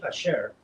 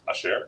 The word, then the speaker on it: Asher: A share. It's Asher. It's pronounced Asher.